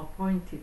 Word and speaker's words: appointed: So appointed 하면은 여기서 발음이 appointed 이렇게 발음을 T자 발음을 거의 잘 안 하지요.